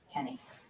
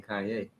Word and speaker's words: Kanye: bit trying kanye oh i'm from ohio we say kenny that's how we pronounce that well i don't care where you're from you pronounce my name kanye kanye like kanye rogers i lived in the